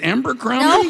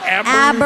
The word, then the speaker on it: Abercrombie: Is it Abercrombie? Nope, it's not. It's Abercrombie. Abercrombie. Can't even say it."